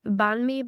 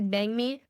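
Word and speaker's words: bánh mì: added mints like that's also bangi some people pronounce it banme but it's actually bangi um it's essentially a sandwich but you order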